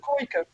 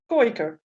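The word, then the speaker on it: Kooiker: We will have what we call a Koiker, and that's a a dog that's sort of handy with catching ducks. So yeah, A goiker? Is that what you called it? Koiker. Koiker. Spell it. Kooi-K-E-R. Oh, a koiker.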